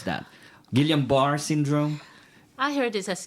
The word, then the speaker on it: Guillain-Barre: had a child with GBS how do you pronounce that Guillain-Barre syndrome I heard this as guiambres all right GPS okay a three-year-old at three